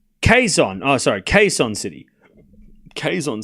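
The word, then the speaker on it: Quezon: It's pronounced Queson.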